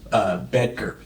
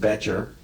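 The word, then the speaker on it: Bettger: And the book is called How I Raised Myself from Failure to Success by a guy named Bedker. Okay. He sort of pronounces it Betcher.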